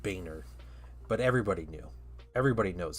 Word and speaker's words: Boehner: Um and uh his last name was Boner, but he pronounced it Boehner, but everybody knew everybody knows his last name was Boner.